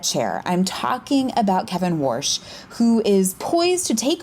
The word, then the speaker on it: Warsh: say it, but that's his surname, it's Kevin Warsh, right?